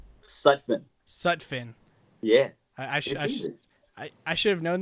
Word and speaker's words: Sutphin: how do you say your last name such such fin yeah I should have known that but like